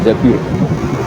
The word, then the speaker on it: Zabir: sama Abdul Abdurrahman bin Zabir di hadis ini bukan bacanya bukan Jubir tapi Zabir Abdurrahman bin Zabir.